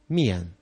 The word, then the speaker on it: milyen: Here you have another typically Hungarian letter combination, L plus Y. It looks frightful, but it is the exact equivalent of the letter J in the Hungarian language. And by now you know how to pronounce a Hungarian J, don't you? Just think of jól.